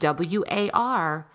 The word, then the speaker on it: war: here or there, but usually WAR is pronounced with an OR. So it's spelled WAR, but it's pronounced war.